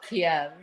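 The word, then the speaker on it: Kyiv: with I love that they call it ke now when they used to call it Kiev but you know idiots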